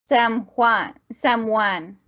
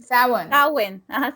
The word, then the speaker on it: Samhain: me see if I can remember the exact pronunciation. Samhain. It's not Samhain. Samhain.